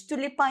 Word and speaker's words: tulipán: Então, aqui temos tulipã e tulipa, mesmo significado, lugares diferentes da sílaba tônica.